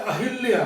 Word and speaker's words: अहल्या: अब second question है अहल्या। लोग बोलते हैं अहिल्या, तो बालक तो अहिल्या लिखेंगे। शब्द सही है अहल्या, ए है आदल है या, अहल्या।